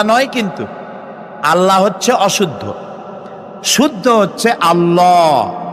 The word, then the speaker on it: আল্লাহ: কি গুণ বলেন কি গুণাবলীতে বিশ্বাস আল্লাহর নাম আল্লাহ বলেন তো আল্লাহ নয় কিন্তু আল্লাহ হচ্ছে অশুদ্ধ শুদ্ধ হচ্ছে আল্লাহ বলার সময় মুখটা